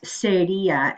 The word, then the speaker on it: sería: You can't use seria, S-E-R-I-A, accent on the I.